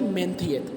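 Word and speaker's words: Menteith: मेंथियत, correct pronunciation क्या होगी? मेंथियत.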